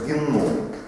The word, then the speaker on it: геном: Ну, число это достаточно ориентировочное, но вообще-то вся совокупность генов данного организма называется геном. Ударение делается на О. Геном.